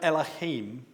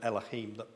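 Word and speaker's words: אלהים: That it's not the aleph that is pronounced at eh, it's the vowel sound that's added to it. In fact, there is a pointing that's added to it, which creates that eh sound.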